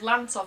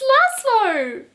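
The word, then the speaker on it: Lazlo: and it has some did i just get his name wrong i think i just got the main character's name wrong wait no way i'm going back wait character called lance of strange and what did i think it was called lance of his name's laszlo okay so apparently i can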